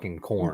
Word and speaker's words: Corin: hit them with some like yo it's really corn they' be like you haven't corrected me this whole then it's like turns into a argument.